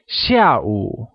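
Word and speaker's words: 下: afternoon is translated as Shia where sh spoken in the falling tone or the fourth tone means latter and O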